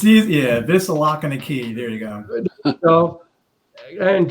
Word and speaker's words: Vislocky: Is that how you pronounce it? Vislocky? It's easy. Yeah, Vislocky.